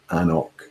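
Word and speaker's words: An Cnoc: suggestion on how brands might want their product pronounced. And they're quite happy, it seems, calling it Anok.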